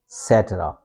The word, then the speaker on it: etc.: And then C gives etc etc etc. Okay you can see that there's uh stress mark and this is schwa sound.